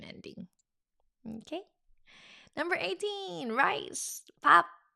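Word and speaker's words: 밥: Pap. One syllable. It has all kinds of warmth to it. Pap.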